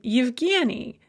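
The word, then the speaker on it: Евгений: So, for example, the name Yevgeny, it starts with a ya.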